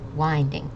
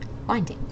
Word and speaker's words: winding: Okay, so it's winding, like a child whining, and then a ding, winding.